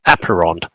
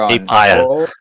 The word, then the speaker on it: Apeiron: Yeah, actually pronounced Apeiron, not Apeiron. It's okay. A lot of people say Apeiron.